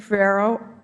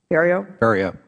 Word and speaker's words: Ferriero: Ferrero, did I pronounce that right, Ferriero? Ferriero.